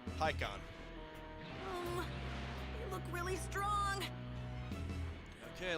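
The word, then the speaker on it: Pikkon: But just for the record, it's spelled P-I-K-K-O-N. Pikon.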